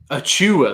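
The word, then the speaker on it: Achiuwa: Achua.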